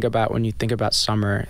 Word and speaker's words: summer,: I'm really obsessed with summer comma yeah is that the right way to say it you just call it summer but what there's a